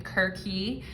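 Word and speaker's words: Circe: the reading there but cersei okay and some people pronounce her name kirky the greek pronunciation of it but i'm gonna say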